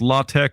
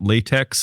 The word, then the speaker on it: LaTeX: It's pronounced Latte, not latex.